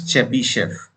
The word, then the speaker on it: Chebyshev: also called chebyshev uh yes c-h-e-b-y-s-e-h-e this is chebyshev this part is only pronounced okay don't get confused with ts and